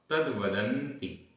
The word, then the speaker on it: तद्वदन्ति: तद्वदन्ति। भूयो। भूयो। विधूत। विधूत तमसो। विधूत तमसो। विशेषेण। विशेषेण। चिंतामणिरिव दुर्लभ। चिंतामणिरिव दुर्लभ मिह ननु कथयामि चतुर्भद्रम। मिह ननु कथयामि चतुर्भद्रम। किं तद्वदन्ति भूयो।